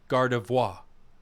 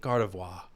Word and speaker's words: Gardevoir: People told me how to say this earlier. It's Gardevoir, right? Like I'm fancy? Gardevoir.